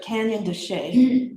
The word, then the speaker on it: Canyon de Chelly: It's che, but Canyon de Che, Canyon space d e and they pronounce it che, but it's c h e l l y.